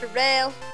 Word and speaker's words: Darrell: I spell like Doe, but it's pronounced Darrell.